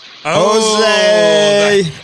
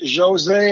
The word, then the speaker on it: José: The thing is, my name is Jose and everything, but moving in Florida, every time they would see my name, they call me Jose. I would say Jose. They're like, how can you spell it? So in Florida, I say to people, I'm Jose, because they have a lot of Jose here, but it's Jose. Jose is my name.